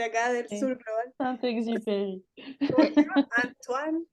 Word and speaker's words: Saint-Exupéry: Se pronuncia. Soy de acá del Sí, sur global. Saint-Exupéry. ¿Cómo se llama? Antoine. Exiperi, dicen en inglés.